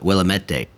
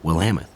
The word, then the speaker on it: Willamette: to Kyle's Park job I like an Oregon they say well Ameth but when you look at the sign it says will a met day oh really and that's where you know Nate sexton's from Willamette date but it's actually will Hammett so it's just how